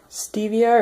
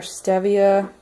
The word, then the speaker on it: stevia: And then we've got some stevia or stevia. People pronounce it different.